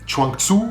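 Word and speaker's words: Zhuangzi: uh to philosophers um chanku I think that's how it is pronounced writes that after one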